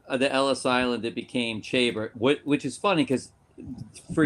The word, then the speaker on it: Chaber: It's like chamber without the M, so it's Chaber.